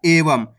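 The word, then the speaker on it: एवं: पढ़ा एवम यानी कि लास्ट के अंदर देखो अनुस्वार की मात्रा लगी हुई लास्ट वाला अक्षर के साथ तो यहां पर अपन आधा मा का उच्चारण कर रहे हैं एवम जब भी लास्ट वाला अक्षर के साथ अनुस्वार की मात्रा होएगी तो वहां पर आपको आधा मा का उच्चारण करना है तो यहां प अपन एवम पढ़ेंगे क्लियर है चलिए आगे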